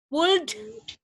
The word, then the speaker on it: would: Gak ada L-nya ya, jadi cuman should, would, could itu.